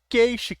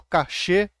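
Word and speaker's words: cache: isso temos as memórias Memória Cash Cash Cash o cachê tanto faz depende do idioma que você tá pronunciando tá é a memória volátil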